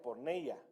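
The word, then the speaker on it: πορνεία: Fíjese que esta palabra infidelidad viene del griego 4202 y más o menos se pronuncia porneia y significa prostitución, incluido adulterio e incesto.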